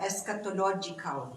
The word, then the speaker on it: eschatological: You mentioned the eschatological.